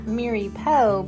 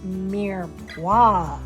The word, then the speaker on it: mirepoix: Thank you for everyone that told me this is not mirepoix, but it's pronounced mirepoix.